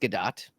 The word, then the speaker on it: Gadot: You're talking about Gal Gadot, and it is actually pronounced Gadot, as I read online and discovered, much to Steve Hovecki's chagrin many years ago.